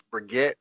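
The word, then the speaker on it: Brigitte: Cuz I said Bridget and that's not it. It's Briette.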